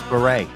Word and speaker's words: Barre: I never heard him pronounce beret. That's the first time I ever heard it. Beret. No, I'm not saying you're wrong. I have no idea, but I've never heard it pronounced that way.